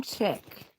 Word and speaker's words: Chic: Cheek. It's actually Chick. Well, that's the way we pronounce it here. Is Chick.